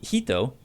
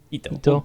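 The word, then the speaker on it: Jito: The Hito, I don't know why I pronounced that with an H and not a J. I don't know how you. I believe pronounce it's that. Hito. Hito.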